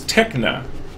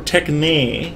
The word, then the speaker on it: techne: the first one is techna and uh our introduction does talk about this so this is on roman numeral 19 under socrates's arguments so techna or techne as you're supposed to pronounce it this is skill knowledge